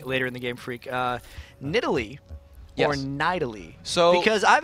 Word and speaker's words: Nidalee: And it was okay, look, we want to pronounce the champion Nidalee.